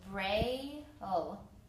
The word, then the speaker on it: braille: Okay, two syllables, braille. The E at the end is silent.